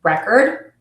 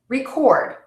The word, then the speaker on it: record: should keep in mind this would be the example in record produce object present so why don't you